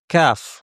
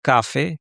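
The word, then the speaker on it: كاف: আজকে যেই হরফটির কথা বলব সেটি হচ্ছে কাফ। কাফ হরফটি আমাদের অনেকের ধারণা যে এটা বাংলা ক এর মতো এবং এটা উচ্চারণ করা সহজ।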